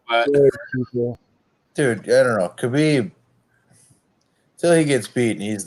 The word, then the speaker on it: Khabib: Khabib, till he gets beaten, he's the best. Question: is it Khabib or is it Habib? Because I've heard both. It's pronounced Habib.